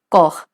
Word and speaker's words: corps: In the last word, that is corps, that is body, P and S both are silent. So it's going to be pronounced as corps.